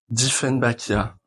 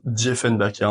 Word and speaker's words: Dieffenbachia: C'est un Dieffenbachia, ou Dieffenbachia en fonction de la prononciation.